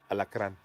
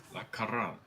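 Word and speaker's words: alacrán: Alacran. La Caran. Alacran. Alacran. You gotta roll that R.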